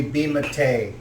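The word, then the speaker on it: Bematae: You may call me Bimate. D? No, like B-E-M-A-T-A-E. Bimate. Spell it one more time.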